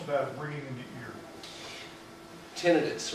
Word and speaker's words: tinnitus: Tinnitus, or as the British say, tinnitus, ringing in the ears.